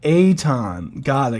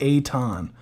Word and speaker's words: Eaton: Tricky name. Aton. Got it. Aton. Like John.